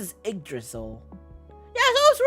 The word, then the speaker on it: Yggdrasil: Oh, it's pronounced as Yggdrasil.